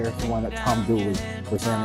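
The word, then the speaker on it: Dula: At the center is Tom Doula, which is pronounced douly here in the area.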